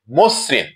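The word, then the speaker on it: মসৃণ: দুই নম্বার উদাহরণে দেখছি মসরিন ম এর সাথে অকার আছে এবং দন্তস এর সাথে ঋ কার আছে যার ফলে ম এর অকারটি ও এর মত উচ্চারণ হচ্ছে মসরিন মসরিন প্রিয় শিক্ষার্থীরা আমরা তিন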